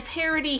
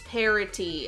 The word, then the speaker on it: parity: By parody, he doesn't mean like satire. He means parity, as in it's...